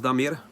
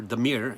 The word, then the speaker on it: Damir: nice to meet you my real name is damir that's how you basically pronounce it in my language or deir if it's easier for you um then on the